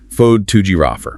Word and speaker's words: photographer: The stress shifts away from the first syllable and moves down the line to the second syllable, T-O-G. Fode to giraffer.